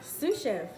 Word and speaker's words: sous chef: my sous chef opens up our hoops here sous chef that's how you say it opens up um